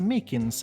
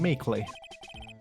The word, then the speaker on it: Meekins: Actually, Officer Meekins at the detention center told us. Oh, that poor little doggy. Poor guy. I kept getting his name wrong and calling him meekly.